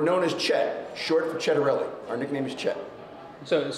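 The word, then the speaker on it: Ciattarelli: So think Chet. Chet for Cittarelli. Okay. C-H-E-T, if you're going to do it phonetically.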